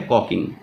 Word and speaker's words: caulking: इसकी स्पेलिंग ज़रा चेक कर लेना बच्चों, इसको लिखा ऐसे ही जाता है CAULKING, पर इसको बोला जाता है कॉकिंग।